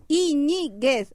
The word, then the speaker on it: Iñiguez: Iñiguez, acento no I, mas é igual, o